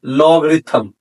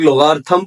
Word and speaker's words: logarithm: लोग नाम देते हैं लॉगरिथम। कुछ लोग लोगार्थम पढ़ते हैं, कुछ लॉगरिथम पढ़ते हैं। तो जैसे भी आपको प्रोनाउंसिएशन समझ आए तो आप लोगों ने वैसे ही यूज करना है।